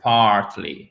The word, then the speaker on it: partly: Faut bien qu'on entende le R, partly, OK? Parce qu'en British English, ça sera partly. On entend à peine le R. Partly. Talk like this. Partly. American English, c'est beaucoup plus prononcé. Partly, OK? Partly. Mm-hmm. Et je vois Nicole qui sourit. Partly. Et avec la première syllabe qui est accentuée.